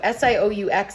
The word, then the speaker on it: Sioux: Most of these groups, such as the Sioux, so S-I-O-U-X there is pronounced Sioux. It's a French word.